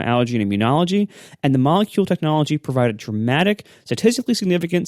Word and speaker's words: Molekule: That's Molekule, so it's spelled like the word molecule, but with a K instead of a C.